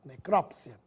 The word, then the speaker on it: necrópsia: palavra não se brinca apesar de as duas formas estarem corretas a preferência atual é com acento necrópsia Ômega ou Omega a